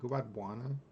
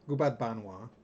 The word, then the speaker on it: Gubat Banwa: Is it Gubat Buana? Banwa. Gubat Banwa is a game that uh, people are really into right now.